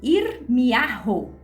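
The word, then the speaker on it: ירמיהו: Olha só, vocês vão ver aqui que o nome do profeta Jeremias, ele pronuncia em hebraico Irmiarro. Irmiarro.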